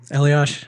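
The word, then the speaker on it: Eliáš: Why is his name pronounced Eliash, by the way? There's no H in that name. Elias? No, like Elias. Well, he's Czech, so I guess he's not from Canada?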